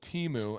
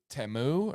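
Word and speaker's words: Temu: one knockoff one from Teemu and I know it's it's pronounced TAMU or something like that but I refuse forever teu I refuse and art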